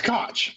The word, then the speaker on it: Koch: It's Koch. Philip Koch. Koch. Oh. Philip Koch. Like Scotch.